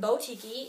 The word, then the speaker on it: BowTikii: ordered some bows from botiky it's spelled bo so b-o-w then tiki t-i-k-i-i there's two eyes at the end of tiki and this girly blog